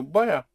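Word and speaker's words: voy a: two words but in in the spoken language you contract the boy are to buyer buyer. You make it practically one word.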